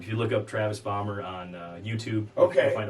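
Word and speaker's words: Bahmer: name okay travis bomber travis bomber which is spelled b-a-h-m-e-r okay that's what i've released a lot of stuff under um if you look up travis bomber on youtube okay you'll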